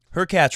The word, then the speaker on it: Hurkacz: I know I started to show off saying Federer has the best point of the tournament, but Hurkacz rhymes with latch.